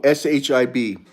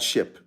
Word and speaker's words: SHIB: How do you spell that? Question mark. What is it that you want me to spell? Oh, SHIB, not ship, ship.